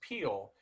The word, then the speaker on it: Pehl: the uh trivia that your last name is pronounced Peele which I remember thinking I don't think that's trivia I think that's how you say your name uhhuh but it's it's spelled p HL and I I'm really